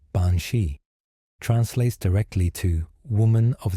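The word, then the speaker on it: bean sí: Bened, pronounced roughly bansi, translates directly to woman of the fairy mound.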